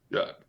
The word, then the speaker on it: Jacques: Jacques? Jack. Jack? Yeah. Call him Jack. French, but it's pronounced normally.